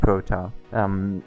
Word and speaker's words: Proton: And Proton, that's the pronunciation, Proton.